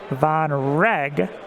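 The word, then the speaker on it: Vonreg: on the flank here i guess i should say it's pronounced von reg thank you tokenpalooza there are a lot of tokens out on the board and vonrag is taking that strain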